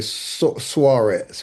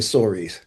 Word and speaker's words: Suarez: Yeah, the very sophisticated, high class, well educated folks say Suarez, but most common folk just say Sor.